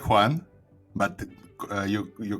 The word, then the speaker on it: Joan: Today joining me is uh Juan Juan, right? It's correct. Yes. Yes. Uh you said your name is uh tricky to pronounce same here because uh although my name